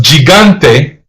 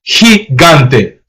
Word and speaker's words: gigante: Um, I thought this was gigante, but based on the example, that pronunciation is wrong. It's he gante because it's a soft G. If if a vowel if the vowels e or i comes after the letter g then you have to pronounce it soft which means people and